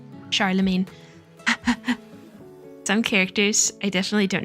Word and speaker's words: Charlemagne: Oh, I'm actually shocked that I was right because I feel like I pronounce everything wrong. Charlemagne.